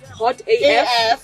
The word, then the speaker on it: Hot AF: It's pronounced Hot AF.